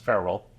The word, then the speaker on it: Ferrell: All right, a quick Google search shows that it's pronounced Ferrell, like Colin Farrell, I guess.